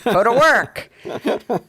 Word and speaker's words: PhotoWork: The accent is on the W. Strangely, it was. That's what happens when you have 3 cups of coffee. PhotoWork.